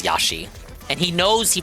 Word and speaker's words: Yoshi: Yoshi? Due to their incredibly fast acceleration, This guy is Australian, so he does pronounce Yoshi as Yashi.